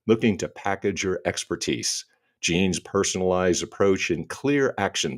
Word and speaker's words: Jeanne: I'm doing great except my name is pronounced Jean and I didn't tell you that oh well see I